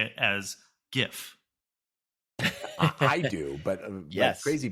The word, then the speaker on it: GIF: we all know that you say it as gif i do but yes crazy people say it as jiff it's uh jay-z is the word you're looking